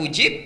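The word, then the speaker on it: أجيب: Jadi ada yang ditampilkan dengan kata ujib, ada ditampilkan dengan kata astajib. Ini cara membacanya. Satu dua. Satu ujibu. Dua, astajib. Panjang mana?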